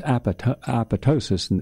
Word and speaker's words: apoptosis: It mediates apoptosis. And this apoptosis, it's pronounced two different ways, but it's A-P-O-P-T-O-S-I-S, and they frequently drop the P, the second P, so it's apoptosis.